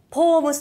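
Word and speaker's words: ポ娘: はい、ポ娘って書くんですけど、ポームスと読みます , そうなんです。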